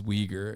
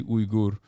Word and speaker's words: Uyghur: ] will tell me the right pronunciation is uyghur in my chat when I say ugur which is literally my